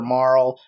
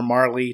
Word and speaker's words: Marle: You have like no party members except for Marl or Marley, depending on how you want to pronounce it.